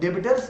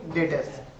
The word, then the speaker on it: debtors: और ये word डेबिटर्स नहीं है, ठीक है, जनरली लगता है डेबिटर्स, बट डेटर्स नहीं है, बी साइलेंट है, तो हम लोग इसको क्या पढ़ेंगे, डेटर्स, ठीक है।